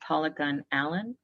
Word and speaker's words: Paula Gunn Allen: collection in anthology by paula gunn allen that's polygon allen and gunn is spelled with two n's and the title of